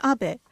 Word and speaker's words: Abe: House my name is Abbot but in the United States some people mistakenly pronounce my name is ape but that is not